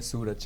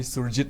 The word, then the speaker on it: Surjit: merge ki directors aina suraj ana pronounce to gramal it should be surjit no make up right